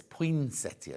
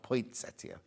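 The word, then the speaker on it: poinsettia: singing the potia song actually I'm saying it wrong there's no T is it it's potia not point settia no there's two T's there but there's no T where point I say point settia it's not point settia is it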